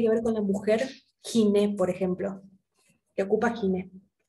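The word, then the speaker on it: γυνή: Giné, por ejemplo. ¿Qué ocupa giné? ¿Ginecología? Exactamente, la especialidad que estudia la mujer específicamente viene la palabra ginecología. La diferencia es que nosotros en griego pronunciamos la G suave, gi, y en castellano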